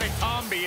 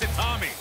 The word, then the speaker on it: Itami: the man's name right it's not a zombie it's a Tommy soul of